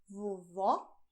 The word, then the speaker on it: vovó: Pay attention to the difference: "VOVÓ" "VOVÔ".